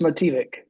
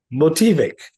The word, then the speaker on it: Motivik: It's pronounced Motivik. Motivik.